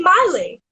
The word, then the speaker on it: Miley: I would sing, it's Miley with the my, not Millie with the me, cause Millie with the me goes me, not my. It's Miley with the my, not Millie with the me, cause